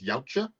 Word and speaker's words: Yautja: Predator, but they're actually, I think the pronunciation is Yautja, but I don't think they're necessarily called that in this film.